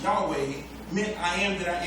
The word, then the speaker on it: Yahweh: power over all things the letters YH wh in the Hebrew language commonly pronounced Yahweh meant I am that